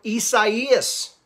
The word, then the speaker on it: Isaias: Tropical storm Isaias, that's how you say it, track near the east coast of Florida through this weekend, Saturday and Sunday.